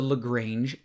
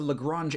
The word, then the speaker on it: Lagrange: And then if this polynomial is used to approximate cosine of 0.2, what is the Lagrange error? I keep saying Lagrange. It's pronounced Lagrange, but My middle name is Lagrange, and so I keep seeing this Lagrange.